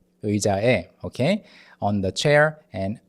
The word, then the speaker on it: 의자에: And 의자에, the 의 sound is tricky at first. You want to say and e really quickly, like together, shorten the two sounds. 의자에, 의자에, okay?